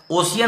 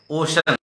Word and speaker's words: ocean: ओशियन नहीं पढ़ेंगे, ओशन, EAN। सी के बाद ई आया है, उच्चारण तालव्य स हो गया है।